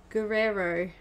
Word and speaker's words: Guerrero: It's it's Guerrero. It's spelled G-U-E-R-R-E-R-O.